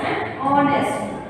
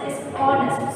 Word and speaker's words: honest: Likewise, an honest. An honest. Okay. You should not pronounce it as honest. It's honest. So it sounds like letter O. The vowel.